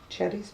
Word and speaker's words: Xerri: I've been informed anyway that it's pronounced cherry because it's Portuguese or something.